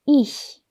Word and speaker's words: ich: 세하가 이 뒤에 있으니까 약하게 소리를 내셔야 합니다. 바람 빠지는 소리만 내시면 됩니다. ich.